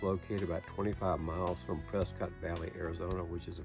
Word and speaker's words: Prescott: The campground is located in the Prescott National Forest. I know it's spelled Prescott, but that's the way the locals pronounce it.